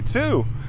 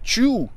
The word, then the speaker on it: too: I love you too. Me too! Mas antes de começarmos a falar sobre essa parte, essa regrinha gramatical, vamos entender a pronúncia dessa palavra, que tem o mesmo som do número 2.